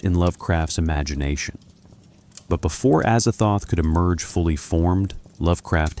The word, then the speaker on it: Azathoth: Azathoth. Four syllables. Harsh consonants.